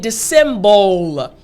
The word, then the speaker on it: dissemble: This can be a little tricky sometimes to pronounce. So again, dissemble. There's a B-L. So for the B sound, all you have to do is put your lips together. Then you're going to draw them in and then push out.